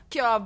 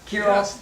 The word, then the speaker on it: Kirov: Kirov? Yeah, Kirov.